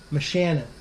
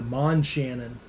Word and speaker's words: Moshannon: of things so G black mchanon isn't that how you pronounce that yeah yeah cuz I I think I kept calling it The Man Shannon in the video so